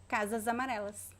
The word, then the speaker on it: casas amarelas: we should say casamareles so it's a z sound if you say just the word casus it's casus casas amarelas but when we connect we say casa zamarellas casas amarels okay another example how